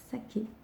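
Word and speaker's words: 鮭: Le saumon se dit saké. Oui, comme le saké, l'alcool de vin.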